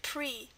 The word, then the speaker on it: prix: That's why you've got all those silent letters. Esprit and prix.